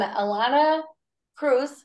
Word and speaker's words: Ilana Preuss: guest today I am Alana Cruz rhymes with Dr Seuss I love that uh